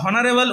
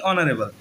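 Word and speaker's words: honorable: তো দেখো এখানে অনারেবল কিন্তু আমরা হনারেবল উচ্চারণ করি না, আমরা উচ্চারণ করি কি অনারেবল। তো দেখো এখানে এইচ এর উচ্চারণ হচ্ছে না, কারণ এইচটা উজ্জ্ব থেকে যাচ্ছে, আমাদের উচ্চারণটি হচ্ছে কোথা থেকে, এখান থেকে।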